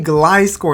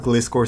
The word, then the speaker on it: Gliscor: Alright, so we have Regirock up against a Gliscor, and I believe that's how you say it because it's a gliding scorpion. I always call it Gliscor, so I apologize if I mess it up.